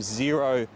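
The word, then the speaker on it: Xero: For example, the term zero, the accounting software spelled with an X instead of a zed, right?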